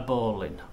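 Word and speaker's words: bowline: case all right a bowling ball well it's spelled Bolan but it's spoken bowling and that's a debate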